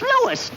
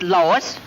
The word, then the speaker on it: Louis: Me name is Louis, not Lois. Gee whiz, everybody interpolates me name wrong. It's Louis. L-O-U-I-S.